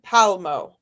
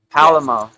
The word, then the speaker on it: Palmo: So it's Tanzine Palmo. So Palamo. Is that what I said or we I guess it's no pala. It's just palmo. Palmo. Palmo.